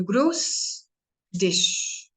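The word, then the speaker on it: Grüß dich: ish this you know just see the sound of dish like we eat now different dishes that's a song a gross dish beginning greet you greet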